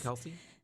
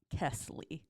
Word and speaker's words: Kesley: Kesley at her graduation they said her name wrong twice Kelsey they said Kelsey and then she stood there and then they said it wrong again oh no and then she kept standing there and like then they finally third time third time they got Kesley yeah they could say